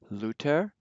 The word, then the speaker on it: Luther: Then other remarkable differences are TH is pronounced like, just like a T, so let's read these. Luther, Goethe.